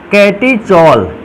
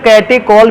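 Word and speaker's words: catechol: ऐसे फॉर्मूले का नाम है कैटीचॉल, या मैंने कल भी कहा था इस फॉर्मूले को कि इसके कैटेकॉल भी इसका नाम पढ़ा जा सकता है। ये उच्चारण के लिए है, इसलिए जैसे CH का मतलब कोई चा से भी उच्चारण इसका कर सकता है और CH को का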